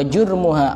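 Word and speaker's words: جُرْمُها: Makanya disebutkan al-lisanu jirmuha shaghir wa jurmuha azim. Kalau orang tidak pernah belajar ya bingung bacanya. Soalnya hurufnya sama, harokatnya tidak sama.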